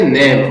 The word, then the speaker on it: name: म, और ई है वो यहां पर साइलेंट है, इसकी आवाज नहीं आती है, तो यहां पर इसको पढ़ेंगे नेम।